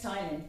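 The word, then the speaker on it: ptyalin: library another name is tylene p is silent so it acts on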